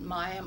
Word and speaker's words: Miami: her brother James and Miami Oklahoma it's spelled Miami but in Oklahoma it's called miam Oklahoma and then she met